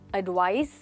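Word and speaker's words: advice: ध्यान से सुनिए, एडवाइस स, एडवाइज, इनकी प्रोनाउंसिएशन में भी एक छोटा सा फर्क है, तो वो आपको हमेशा याद रखना है।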